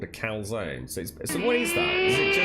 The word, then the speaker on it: calzone: A calzone. It's actually called a calzone.